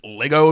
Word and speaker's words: Lego: I know you're not don't call them Legos it's just Lego Lego bricks it's not Legos I know that's a common mispronunciation sorry as I say